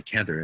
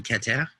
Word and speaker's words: Keter: I'm like, when you focus on Kether, and they're like, Keter? Keter? You mean Keter?